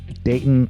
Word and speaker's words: Dayton: from The Gem City Dayton Ohio note that I pronounced it like the locals here do day gladle stop in